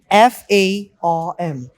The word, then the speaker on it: farm: For example, FARM. So the pronunciation in British accent would be farm, and in American accent it would be farm.